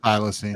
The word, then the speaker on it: thylacine: That's the Can anyone pronounce Tasmanian that? tiger. Thylacine.